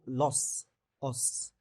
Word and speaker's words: os: Ce raccourcissement entraîne le déplacement des os os ملي كتكون جمع كتقرا os بحال هاد الحاله هادي des os كنقراوها لو ديبلاسمون دي زو اس ما كتنطقش. ملي كيكون مفرد كنطقو اس كنطقو لوس os.